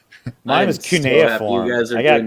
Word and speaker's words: cuneiform: Yeah, my cuneiform hieroglyphics. I thought it was always pronounced Suniform or something.